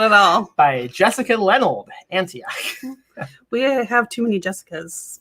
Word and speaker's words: Antioch: I think is how you pronounce it. Yes, Antioch.